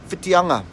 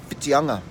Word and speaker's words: Whitianga: So today's kupu of the day, or today's place name is Whitianga. Yes, Whitianga.